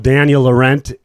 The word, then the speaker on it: Daniel Laurent: And we have DL, Daniel Laurent.